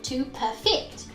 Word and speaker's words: perfect: exactly what's going on instead of saying perfect as we normally do which has stress on the first syllable i change that to stress on the second syllable to perfect this changes perfect which is an adjective into a verb to perfect so if what i've